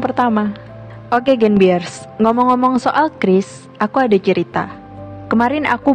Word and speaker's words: QRIS: lain-lain kayak gitu sih Kris itu dikembangin oleh Bi agar semua transaksi itu bisa jadi cepat dan mudah Oke jadi bacanya yang tepat itu Kris ya bukan keris atau curiis Oke lanjut menurut Kak